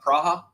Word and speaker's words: Praha: plus years anybody want to move to uh praha anybody want to move to Prague with me